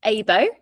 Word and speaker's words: AIBŌ: Yeah, so it's pronounced AIBŌ, which means buddy in Japanese.